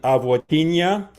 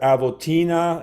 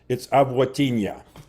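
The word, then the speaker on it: avotiņa: Another change that people got on the recording is the N with a comma under it, as in avotinha. That's a ny sound. In my day, we pronounced that avotina, and that's wrong. It's avotinha.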